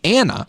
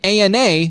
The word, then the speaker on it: ANA: it's an acronym that Ethan pronounces Anna instead of Ana like most every Medical Professional does this also adds to